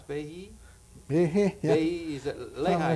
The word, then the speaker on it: Behe: How do you pronounce Behe? Behe, yeah.